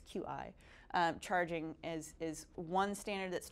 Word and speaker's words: Qi: Inductive charging I think it's pronounced qi, it's qi.